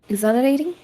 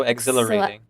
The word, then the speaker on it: exhilarating: Um, the H can actually be silent if you would like. So, exhilarating. Exhilarating.